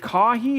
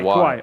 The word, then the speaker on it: Kawhi: Is it Kahi? Is that the name of the group, the team that you actually... Kawhi. Okay, so yeah, my production team, they said it wrong.